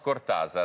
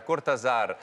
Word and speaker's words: Cortázar: si vede niente, però tra Cortázar e Cortázar c'è anche l'accento, diceva Piero, e giustamente ha ragione lui, ancora una volta.